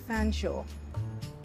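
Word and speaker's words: Featherstonehaugh: name was Jane and Shaw is how you pronounce the end of fan Shaw why in the world would you pronounce something spelled feather Stone ha fsha I'm sorry that's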